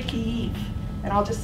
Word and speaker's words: Kyiv: It's inherently imperialistic language to call it Kiev. It's actually Kyiv.